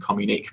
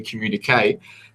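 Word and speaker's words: communiqué: agenda is the communique i mispronounced it last night I said calm unique but it's actually communicate that the g20 release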